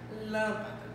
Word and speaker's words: lâmpada: Nós temos também a palavra lâmpada.